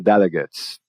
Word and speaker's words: delegates: Opa, substantivo terminado em ATE, vou apostar na pronúncia de ut e não na pronúncia de ate. Então eu diria the delegates.